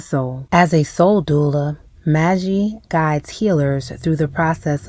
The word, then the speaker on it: Maji: And I also would love the correct pronunciation of your name. Maji. It's Maji.